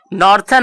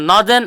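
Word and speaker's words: northern: इसका प्रोनाउंसिएशन हम नॉर्थर्न और साउथर्न नहीं करते, इसको हम नॉर्दर्न और सदर्न पढ़ते हैं।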